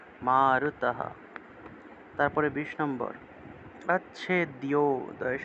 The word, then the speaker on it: মারুতঃ: ন শুষয়তি, ন শুষয়তি মারুতঃ, বিসর্গ থাকলে হ উচ্চারণ। মারুতঃ।